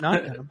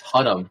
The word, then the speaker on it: Hunnam: Not Dunham. Hunnam. Hunnam? It's Hunnam. It's an H.